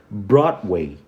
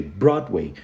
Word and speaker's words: Broadway: Brown e aí você começa a pronunciar o som do W que tem o som do U então a gente fala Broadway o som do D